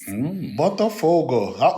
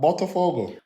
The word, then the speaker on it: Botafogo: Botafogo. What's the pronunciation of that? Botafogo. Botafogo. There you go. Said it perfectly.